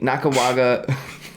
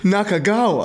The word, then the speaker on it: Nakagawa: pronunciation correct me coochie Naka waga was that your best shot coochie Naka waga kichi nakagawa sorry something El mind